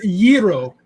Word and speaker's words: gyro: It's pronounced gyro. Fair enough. I say gyro, but Shiny asked a question.